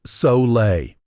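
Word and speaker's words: sole: The secret he learned was something called sol, pronounced so-lay.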